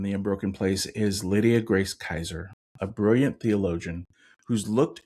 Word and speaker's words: Kaiser: And our guest today is Lydia Kaiser. Is that correct? Did I say it correctly? That's right. Kaiser.